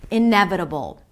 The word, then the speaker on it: inevitable: a schwa, and a dark L. You create this tension in the back of your throat. You can even imagine as if there is an O sound between the B and the L. Inevitable.